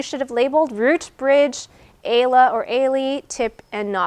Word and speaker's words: ala: That's a ala, or plural is ali. That's how you spell it. This is the plural. Okay, so it's ala, or plural is ali.